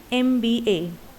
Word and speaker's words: MBA: The last example, an MBA. So this is the acronym, an MBA. Here is the letter M, but in the pronunciation there is a sound that is A, and A is vowel.